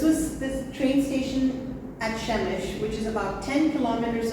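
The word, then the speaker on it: Przemyśl: is the train station in the city of shemish it's spelled p r z-y-m-s-l so you'll never know that it's pronounced shemish so this was this train station at Shemesh which is about 10 kilometers away from the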